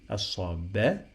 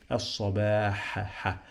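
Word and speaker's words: الصباح: As-sabah, long vowel. As-sabah. I have here ha, but the sound of ha does not exist in English, so we are gonna write it H.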